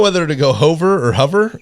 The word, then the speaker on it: Hover: to go over or hover it is spelled h-o-v-e-r Eileen H that's that looks like Hoover okay Eileen Hover was